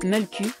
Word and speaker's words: Mölkky: Son nom se prononce « Mölkky » et désigne le bâton que les joueurs doivent lancer pour faire tomber des quilles en bois.